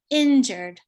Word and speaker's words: injured: louder longer higher um for the word injured it's normally on the first syllable we would say injured but as you hear